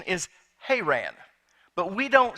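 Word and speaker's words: Haran: to go to her Anne now the correct pronunciation is hay ran but we don't say it that way in Oklahoma so I'm gonna stick with her ran if that bothers you and I doubt it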